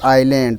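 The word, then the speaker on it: island: MCQ number 64, फाइंड the silent letter in the word आइलैंड।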